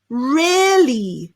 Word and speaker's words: rarely: So think of the air around you and add an R at the beginning. So air, rare, and then rarely.